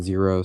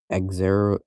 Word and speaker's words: Xero: like For some reason, I really like Xero. That's how I pronounce it. Some people pronounce it Zero, some people pronounce it Exero, uh something weird. I don't know. I I pronounce it Zero, but uh Yeah, I